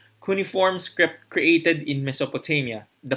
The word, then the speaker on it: cuneiform: language cuneiform in other american and british accents have different pronunciation for kuniform but i would prefer kuniform kuniform script created in mesopotamia